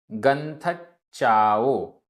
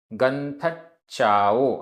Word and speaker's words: गंथच्चाओ: गंथच्चाओ। गंथच्चाओ आधा ना था, आधा चा पूरा चा। गंथच्चाओ।